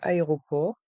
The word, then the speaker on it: aéroport: prononçons l'aéroport l'aéroport dans ce mot le T de Aéroport est mué l'aéroport l'aéroport la banque